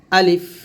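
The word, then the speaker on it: ألف: আলিফ আলিফ আলিফ আলিফ যখন উচ্চারণ করবেন আলিফ টান দেওয়া যাবে না আলিফটা তাড়াতাড়ি উচ্চারণ করতে হবে আলিফ আলিফ আলিফ এরকম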